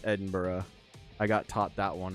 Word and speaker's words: Edinburgh: I've been getting credit with it at work, but um I know that it's not um like it's not pronounced uh Ed Edinburg in Scotland. It's Edinburgh.